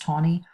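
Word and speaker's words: Taney: Court is Roger tawny I know it's spelled like this but it's pronounced Tony and he says that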